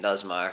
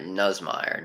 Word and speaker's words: Nussmeier: it nzm oh god I've been saying nzm for the entire first new Samir for the entire first half is it nzm oh Christ this nuz matter are you kidding me I hate pronunciation man I hate it you want to cry so annoying all right nuz meire nuz meire nuz meire this thing's